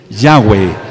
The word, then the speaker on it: Yahweh: De mi nombre, hay que pronunciar su nombre. Su nombre es Yahweh.